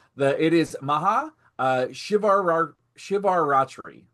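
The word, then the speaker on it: Maha Shivaratri: The it is maha uh shivar shivar ratri shivar ratri.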